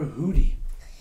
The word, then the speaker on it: Judith: name is spelled judith why do you call her hooty that's how you say judith in spanish ah okay all right